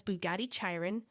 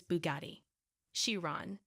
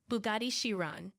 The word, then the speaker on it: Bugatti Chiron: address some common mispronunciations many people tend to mispronounce as Bugatti chyon or Bugatti Chiron or Bugatti chyon how to pronounce in American English in American English the correct pronunciation is Bugatti shiran Bugatti shiran Bugatti shiran how to pronounce in British English